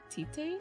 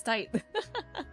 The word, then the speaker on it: Tite: So wild to me how it's supposed to be pronounced like tight, right? I remember I was like, isn't? I read it. I'm like, Tite Kubo? That's how you like say things in Japanese, right? But no, it's tight.